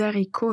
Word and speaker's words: haricot: Quand on parle du mot haricot, le mot haricot commence par un h aspiré, ce qui signifie qu'il n'y a pas de liaison avec l'article ou le mot qui le précède.